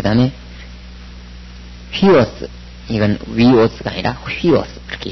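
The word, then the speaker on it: υἱός: 액센트는 아직 안 배웠고, 그래서 위오스라고 읽지 않고 휘오스 그렇게 읽습니다.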